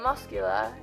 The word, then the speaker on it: muscular: In muscular, it's SK, yes.